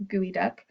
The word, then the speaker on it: geoduck: The geoduck clam, yes, I know it's spelled geoduck, but it's geoduck clam, is burrowed down deep